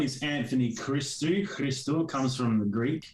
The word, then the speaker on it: Christou: a little thing going as to how you pronounce both things so yeah yeah so my name is anthony christie crystal comes from the greek so crystal is